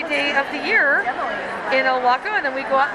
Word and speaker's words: Ilwaco: Fiber Arts from, how do you say it, Ilwaco? Ilwaco.